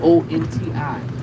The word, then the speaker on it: Conti: CONTI, Conti and Bourbon, Oceana.